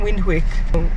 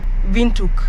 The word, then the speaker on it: Windhoek: wind Quake yeah we we've been saying wind Quake if you're not from around from South Africa or Namibia I'm sure you pronounce it wrong guess what it's called vuk where is the tea